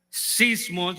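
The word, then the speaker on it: σεισμός: la posibilidad de hundirse la palabra Tormenta en el original en griego se pronuncia sismos de donde viene la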